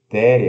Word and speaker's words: there: Então, esse there aqui, né, significa ter e se pronuncia TH vozeado, E, schwa, R. Então, a, R, there, There. there.